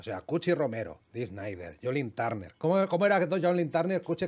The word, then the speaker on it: Joe Lynn Turner: Jolin Turner. Ah, es Joe. Joe, es Joe. Joe, y luego, ¿cómo es? ¿Lee o Lin? Lin. O sea, es Jolin Turner.